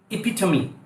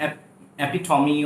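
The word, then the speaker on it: epitome: इपिटमी, example of something, उसको बोला जाता है इपिटमी, इपिटमी, नॉट एपिटॉमी और I don't know how you pronounce, इपिटमी, इपिटमी।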